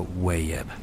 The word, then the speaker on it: Wayeb: al final del año llamado Weeb, pronunciado Wayeb.